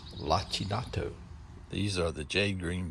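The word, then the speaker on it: lacinato: The kale is also pronounced lachinato.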